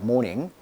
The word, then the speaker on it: mourning: 자, mourning. 우리가 굿모닝 할 때 모닝과 발음이 똑같아요.